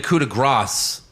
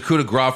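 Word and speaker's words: coup de grâce: seth distracted and now they're calling it the coup de grasse again yeah i don't know i mean it was the coup de grace for so long i mean i get it you could pronounce it either way but i guess stick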